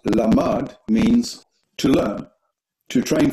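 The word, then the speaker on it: למד: Lamed Mem Dalet, the same spelling but pronounced Lamad, means to learn, to train for, to be trained, implying training that would be put to use.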